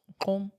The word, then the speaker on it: Gqom: How do you pronounce GQOM? Home.